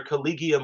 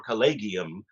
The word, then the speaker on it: collegium: And there on Mariam Webster, it you'll see there's either calleium or calleium, but it's in both cases a hard G.